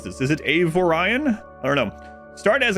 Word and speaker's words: Avorion: Avorion. Avorion. That's how I was pronouncing it. And then a couple people said, I think that part's pronounced Orion.